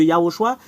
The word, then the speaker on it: Yahoshua: également et c'est ce yahoshua quiutilise les gens pour Stirer un nom Yoshua c'est vraiment différent de yahoshua c'est pas pareil yahoshua et Yehoshua Yehoshua c'est Josué et